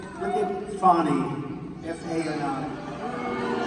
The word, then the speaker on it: Fani: It's called, look at Fani, F-A-N-I. It should be pronounced Fanny. Fani. They say she gets very upset if you call her Fanny, F-A-N-I.